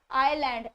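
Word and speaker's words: island: होता है ठीक है आई एस एल ए एन दी इसकी जो प्रनंसीएशन है डेट इस नेवर आइस एलईडी इट इसे आई लैंड एस इस ऑलवेज साइलेंट है रिमेंबर डी नेक्स्ट इसे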